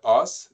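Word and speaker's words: Ås: Non, Alors, on a été bon, dans la ville, c'est dans la ville de Os. Donc, le A, c'est un A qui est très grave, là.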